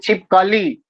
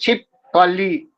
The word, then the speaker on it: छिपकली: उसी तरह हिंदी भाषा भाषी अंतिम अक्षर पर बल देकर करता है, जैसे छिपकली। लेकिन यदि अज्ञानवश कोई अंतिम के स्थान पर दूसरे अक्षर पर बल देता है, जैसे छिपकली, तो उसका उच्चारण अस्वाभाविक हो जाता है, लेकिन अर्थ में परिवर्तन नहीं होता है।